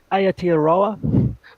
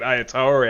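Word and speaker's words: Aotearoa: just um get you on the pronunciation that's ayateroa as is the team name is it okay i'll have to work on that i thought i was doing well enough to get ayatory out so that's fine i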